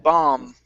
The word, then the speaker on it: bomb: up is the word bomb the B at the end of this word is silent bomb s sites bomb s